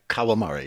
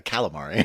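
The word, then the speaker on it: Kawamori: not smart at all so his name is Shoji karamari I guess I'm saying it right yeah yeah it's right uh kawamari yeah okay see I got it right I had to make sure you didn't say uh calamari oh I know what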